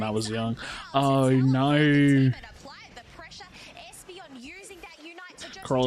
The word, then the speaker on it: Carl: Carl is pronounced the same as Carol.